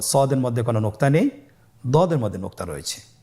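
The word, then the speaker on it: ض: পরবর্তী হরফের নাম হলো দদে। দেখতে একই রকম সদের মতোই, শুধুমাত্র নোক্তার পার্থক্য। সদের মধ্যে কোনো নোক্তা নেই, দদের মধ্যে নোক্তা রয়েছে। দদ হরফটি উচ্চারণ করার সময় অবশ্যই 3 আলিফ টেনে পড়তে হবে।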